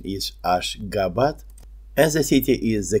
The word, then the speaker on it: Ashgabat: The current spelling and pronunciation is Ashgabat, and the city is the capital of independent country Turkmenistan.